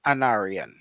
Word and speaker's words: Anarion: to butcher my name, but it's pronounced Anarian.